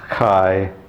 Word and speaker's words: chi: ages the abbreviation of christ was the symbol kai ro now kai looks like an x and